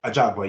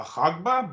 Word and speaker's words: Ajagba: Ajagba? A Jogba, yeah, yeah. I thought Ajagba. it was a Hogba, but no, I've heard him pronounce it a Jogba a few times, so I'm gonna Okay.